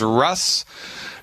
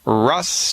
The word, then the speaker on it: Rhus: It says Rhus Toxicodendron on it. And you spell that R like Roger, H like Harry, U, S like Sam. R-H-U-S.